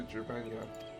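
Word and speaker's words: Gyr Abania: Pray inform the officer that we wish to proceed into Gurabanya, or Gurabanya, my bad.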